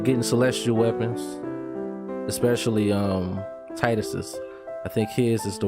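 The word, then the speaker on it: Tidus: no problem and Titus some people pronounce it tetus Titus I've been calling Titus for years so me too take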